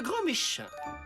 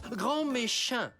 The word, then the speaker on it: Grand Méchant: votre professeur remplaçant monsieur grand Méchin veuillez prendre place il est où Monsieur Ernesto attendez vous vous appelez monsieur grand méchant ça se prononce grand méchant et ça sera au